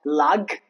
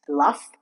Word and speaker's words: laugh: It's not lag, it's laugh.